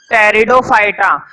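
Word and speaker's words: Pteridophyta: है वह ग्रुप बोलो टेरिडोफाइटा तुमको भैया पीछे लिखा हुआ है मैं बोलूंगा कि आप इस आयरलैंड है इसमें पीछे क्या है साइलेंट है इसको हम पढ़ते हैं टेरिडोफाइटा पीठ की आवाज नहीं आती है क्योंकि यह माना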